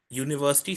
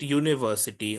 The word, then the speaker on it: university: The reason for that is that when we write university, we write it with a U. But if we spell it like we speak it, we can make it start with a Y also. So we can write it university or Y double O university like it's written over here.